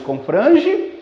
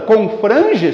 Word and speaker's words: confrange: Portanto, confrange só conta até o fran, a última sílaba não conta.